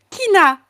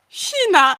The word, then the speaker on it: China: que du coup vraiment c'est Kina Oda Shina China od kina et on se regardait